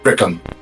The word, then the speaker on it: Brikung: Gobby, you know this is Brikung. Am I pronouncing that right? Yes, Brikung. Yeah, Brikung.